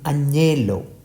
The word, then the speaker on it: agnello: And GN is pronounced as Inya, as in Agnello.